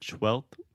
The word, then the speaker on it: twelfth: it all huh so there's an F in the word twelfth we write it t w e l f t h I believe but the F we don't pronounce that so you were saying